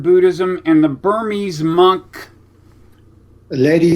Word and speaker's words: Ledi: so almost like the the the word lady and then Sayad has no no rough equivalent in English but it's l e di then the second word is s a y a d a w but I take it